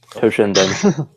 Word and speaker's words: Toshinden: Thank you for saving me from pronouncing that wrong. Toshinden.